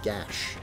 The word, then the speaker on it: Geis: Yeah, it's That is Geis is the official spelling of his name, like in all art and everything, but the actual pronunciation is Gash for some reason, which I'm not sure how you get that out of Geis.